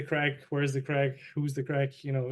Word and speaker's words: craic: you know this term, the crack. Do you know the term, the crack? The crack? Like Crack? No. Craic, we spell it in Ireland.